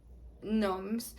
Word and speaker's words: gnomes: Oh yes and also, I had to learn how to say '' gnomes '' because I used to say ''gnomes''. Because in french it's how we say, but apparently here we don't say the '' gn '' like '' nomes''.